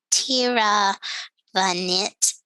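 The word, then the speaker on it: Tiravanija: guides on it but tira the knit is usually how the last name is pronounced and this is a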